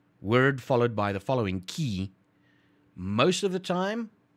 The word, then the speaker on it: tjie: word the we say i'm gonna pronounce it as key but it's either t